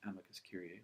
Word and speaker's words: amicus curiae: the interest groups interests there's what we call an amicus curiae we're also heard pronounced amicus curie which is a short